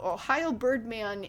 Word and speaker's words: OhAIoBirdMan: That thing that looks like an L there is actually a capital I. Yes, capital I. So OhAIoBirdMan is known for really